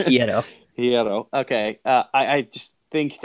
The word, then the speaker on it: Hierro: We had a listener chime in, so thank you to that listener for correcting us on prior pronunciation. But it's Hierro.